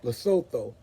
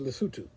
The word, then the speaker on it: Lesotho: it in terms of English, it looks like Lesotho, but it's actually pronounced Lesotho.